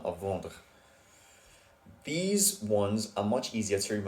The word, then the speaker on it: vend: It's just ends in the letter D, which is silent. So let's play again. Il vend.